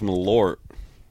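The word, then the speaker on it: Malört: There's an umlaut for the O. It's Malort.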